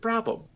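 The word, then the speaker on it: Brabham: So Brabom, is it Brabom?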